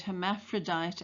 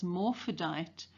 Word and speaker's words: hermaphrodite: Scout's mispronunciation of the word hermaphrodite as morphodite serves to endear her to us, the reader.